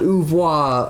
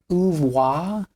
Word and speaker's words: oeuvre: Red Hot Chili Peppers has a good, solid oeuvre of... Oeuvre? Yeah. not oeuvre. I don't give a shit about your French pronunciation.